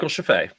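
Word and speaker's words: Scheffe: and we have to talk literally about Michael Sheffy is is the word is is the right way to pronounce that. Yeah, Michael Chafay.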